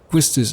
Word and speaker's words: Quistis: we can see that the japanese pronunciation is kistisi but that doesn't really mean that the english pronunciation has to be exactly the same and now world of final fantasy seems to have confirmed quistis as the quote unquote correct pronunciation of her name foreign meaning squall so